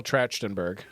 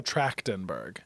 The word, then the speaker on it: Trachtenberg: hold on okay Michelle Trachtenberg very close Michelle tractenberg it's a not a e like you can say